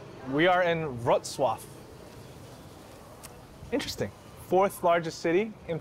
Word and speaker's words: Wrocław: We are in Wrocław. I'm gonna look up how to pronounce it first before I make a fool out of myself. Wrocław. We are in Wrocław.